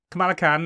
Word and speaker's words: Kamala Khan: I'm going to get the name wrong. Kamala Khan.